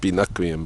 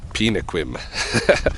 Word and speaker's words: Binoquium: It is pronounced Binoquium, by the way, for those who continue to pronounce it Pinoquim.